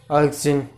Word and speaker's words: auxin: ऑक्सिन बा ऑक्सिन कही तुम कहीपर तुम प्रोनाउंसिएशन कर ऑक्सिन बा ऑक्सिन तुम जहाँ प्रोनाउंसिएशन कर AUXIN है ऑक्सिन है।